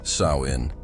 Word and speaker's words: Samhain: This creepy night marked the start of Samhain, pronounced Samhain, a festival from October 31st to November 1st.